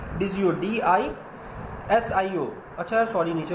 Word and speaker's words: DiSCo: बहुत सारे लोग उसको डिस्को पढ़ते हैं, हम पाकिस्तान तो डिस्को ही पढ़ते हैं, लेकिन उसकी प्रोनाउंसिएशन होती है डिजियो, DISIO।